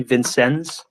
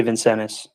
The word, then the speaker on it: Vincennes: It's spelled Vincennes, so it might be Vincennes, but I'm going to say Vincennes.